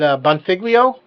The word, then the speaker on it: Bonfiglio: It's kind of hard to pronounce his last name. He's in Vegas. Is it Bonfiglio? Yes, that's it's the hardest name we have. So, yeah, it would be David Bonfiglio.